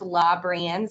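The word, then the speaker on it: Labranz: my email address it's it's pronounced law brands saint francis dot com but that's l-a and then b-r-a-n-z at spelled out saint francis dot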